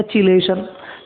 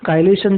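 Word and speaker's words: chelation: अगर तैयार होता है उसको हम बोलते हैं काइलेशन या चिलेशन, तो भी आपको प्रोनाउंस करना है, यू कैन प्रोनाउंस। ठीक है, काइलेशन जो है वो करेक्ट टर्म है।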